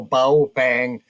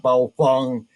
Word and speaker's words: Baofeng: It is now Ba Fang. It is not Bong.